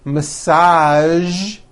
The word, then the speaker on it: massage: casual television very good now there are only a few words that have the voiced z sound at the end a few of these words are the color beige the word massage and the word Prestige okay now that you